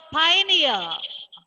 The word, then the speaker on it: pioneer: Then the next word, pioneer. Repeat after me. Pioneer. Pioneer. Stress is given to Pioneer. the syllable p.